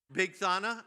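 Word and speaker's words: Bigthana: And you know how they get pronounced? Big Thana and Tes.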